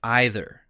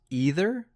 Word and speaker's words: either: Is it pronounced either or either? Oh, the classic pronunciation debate. The truth is both are completely correct. Either is more common in standard American English, while either often sounds a bit more British, though many Americans use it too.